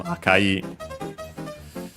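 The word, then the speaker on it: 赤: Akai, unaccented, unlike Aka, accent on the first syllable.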